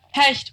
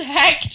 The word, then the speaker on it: Hecht: i'm sick of going my name is hecht people are like what hesh what h-e-c-h-t that's fine sure